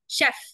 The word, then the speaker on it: chef: the oh my God not kef sh Chef sh sh chef chef chef yeah yeah that's correct just understand the spelling